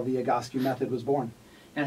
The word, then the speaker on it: Egoscue: you here i want to know what is egoscue well uh first of all you're pronouncing it correctly so you're one of the